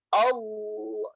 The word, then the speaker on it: Allah: Tapi kalau yang tebal, contoh yang tebal, kalau contoh yang tebal nih seperti ini. Saya contohnya Allah ya. Allah, Allah. Nah jadi dia rahang ke akar, kemudian rongga mulutnya itu jadi ngebuat cekungan kayak gitu.